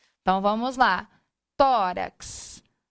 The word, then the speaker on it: tórax: então vamos lá no tórax tórax tão tó sílaba tônica terminou em x assento